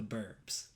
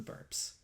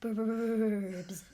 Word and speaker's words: 'Burbs: truth will out that I did not say the burps. What else would you like to say about the Burbs? Now you're saying Burbs. Now you're saying it wrong with the B.